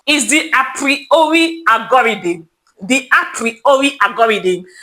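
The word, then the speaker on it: Apriori: The appriori algorithm. It is spelled as a p I p sorry it is as a r i o r i.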